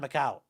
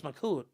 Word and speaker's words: Macoute: Although I think they called it like the Tauntaun Macaut. Although it's Macoute, if you want to say it right, but you know, they speak their own version of French down there.